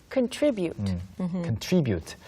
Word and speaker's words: contribute: Contribute. contribute. 그래서 또는 contribute라고 발음하는 경우도 있어요. Oh, yeah. You can say it both ways.